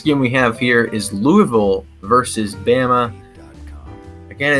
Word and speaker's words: Louisville: which, by the way, it is pronounced Louisville. Louisville, yeah. If you're in Louisville, if you're in Kentucky or the surrounding area, if you're from the north or the Midwest, it's Louisville, like Louisville Slugger.